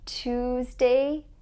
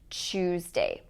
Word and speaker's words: Tuesday: Tuesday, t, t, t. It's not ch. So you can see that with ch, the mouth is more circular. Tuesday, that's the good one. The wrong pronunciation is Tuesday.